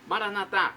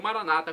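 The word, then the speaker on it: maranatha: aramaico dialeto de Jesus maranat como dizemos nós católicos ou Maranata como dizem nossos irmãos separados os evangélicos ou protestantes não importa pronúncia o significado é o mesmo vinde Senhor Jesus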